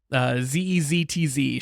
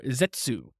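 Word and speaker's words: Zeztz: Zetzz. Shade says it's pronounced as Zetz or Zetsu.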